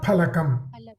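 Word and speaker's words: फलकम्: So normally people tend to make a mistake. Mahaprana Pa. They call it as Fa. I mean, that is basically from the Hindi usage, right?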